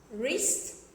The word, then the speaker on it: wrist: We learned one pronunciation tip, that whenever we see the letter W before the letter R, we don't pronounce W. So the words are here: right, wrote, wrinkle, wrist, and wrap.